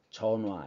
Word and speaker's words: 전화: 그 히은 자주 탈락돼 그래서 사실은 전화 같은 경우도 강조할 때는 전화라고 발음하지만 보통 발음할 때 어떻게 발음합니다 전화 이렇게 발음합니다 몸 앞에 희은 자주